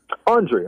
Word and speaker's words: Andre: Andre. Andre is fine. It's it's it's it's the Russian spelling, but still pronounced close to the French spelling.